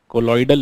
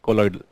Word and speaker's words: colloidal: I think I pronounced it wrong. Colloidal is what we call it, right? I'm so extremely sorry for that wrong pronunciation. Colloidal.